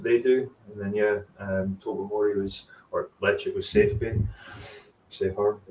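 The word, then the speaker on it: Ledaig: Is it like Lichig? Is that how you pronounce it? Yeah, I have been told it's almost like chick instead of dig. Okay. So Lichig is Lichig.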